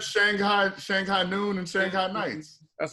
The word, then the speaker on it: Shanghai: little thing it's not shanghai it's shanghai shanghai shanghai yes like s-h-u-n-g as opposed to s-h-a-n-g you're pronouncing what the